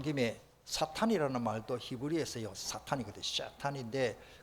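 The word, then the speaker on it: שטן: 샤탄인데 그 샤탄이라는 말이 이빨이라는 뜻이요.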